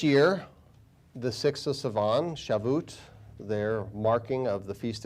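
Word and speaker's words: Shavuot: I may mispronounce it, I think it's shaboot. Uh, S h a vo u t. I don't know if that's how it's pronounced.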